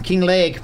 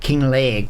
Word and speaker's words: Kinlaig: I'm sure it's probably said like King Lake with like imagine a Scottish person saying it.